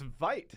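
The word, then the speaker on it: Veidt: Simpsons line yeah yeah so it's vite I guess we have vite and he says it himself so I figure he knows how to pronounce his name yeah that really is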